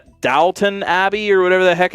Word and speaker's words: Downton: it wrong it's an Abbey it's downtown it's Downtown Abbey I don't know what you want from